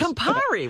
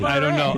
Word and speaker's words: Campari: It's Campari. Why are you calling it Campari? I don't know. I'm trying to talk like Campari. There are a lot of Italians that listen to you too. They'll take umbrage with your pronunciation.